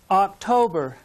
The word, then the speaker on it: October: me september good job october again the stress is on the second syllable october you say it good